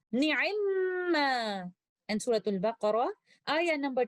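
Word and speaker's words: نعما: In Surah An-Nisa, ayah number 58, the word ni'imma originally is na'imama, but the first letter meme acquires a sukoon and merges into the second letter meme, and we recite it with most complete gunna, ni'imma.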